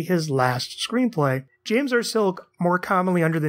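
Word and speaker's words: Silke: James R silk that's silk with an e at the end though I don't believe it's pronounced silky I think it is just silk who at the time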